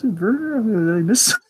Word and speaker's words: Werner: And I also like Werner, the new character. Yes, Werner. Is it Werner or Werner? I think it. Well, I just said it with a German.